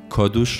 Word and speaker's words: کادوش: تاریخ آمد و امروز مترجمان کادوش را که تلفظ صحیح آن است کادوس نویسند جایگاهی که برای کادوش